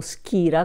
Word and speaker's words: Skira: abbiamo una cartolina della skira si pronuncia proprio skira col k che è del sostanzialmente